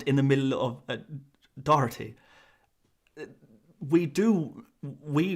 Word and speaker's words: Doherty: in the middle of doherty we do we in this country replace it with a curse sound which is which is